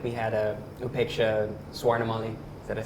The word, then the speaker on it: Swarnamali: Like we had Upeksha Swarnamali, is that I say her name? Swarnamali. Swarnamali.